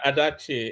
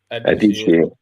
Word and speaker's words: Adichie: I think it's pronounced I call Adichie. it Adachi. Is it Adichie? Adichie. It's Igbo name now, so you will pronounce the she very well. Yes, Adichie.